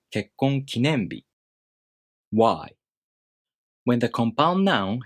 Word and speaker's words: 結婚記念日: a middle-high pattern word, the following part keeps its original pitch accent pattern.